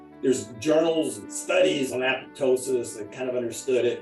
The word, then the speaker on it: apoptosis: They go apoptosis. But think of it as 2 words: apoptosis, apoptosis, apoptosis.